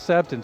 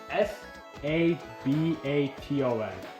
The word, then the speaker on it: Sabaton: How's How's Sabin spelled, son? I think I saying it wrong. S A B A T O N Sabat.